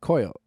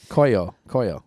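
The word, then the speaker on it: Koio: a free pro cool coil coil okay you're gonna get dragged for saying that incorrectly Olo they're all they're awesome you know it's not it's not pronounced that way okay Koya Koya sure good for you no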